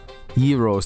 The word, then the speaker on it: gyro: fair holy pete what heroes that's how you spell that that's phonetically how you say gyro but you don't spell it that way hero no he spelled